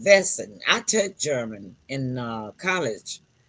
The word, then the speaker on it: Wesen: It's spelled Wesen, but it's pronounced Wesen.